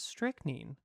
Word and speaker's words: strychnine: How to pronounce? Tell me. Strychnine. It is strychnine.